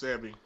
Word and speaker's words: Sebi: me, definitely the doctor, is it Sebi or Sibi? I think you said Sebi, right? I think it's Sebi. Yeah, I believe so. That's the proper pronunciation.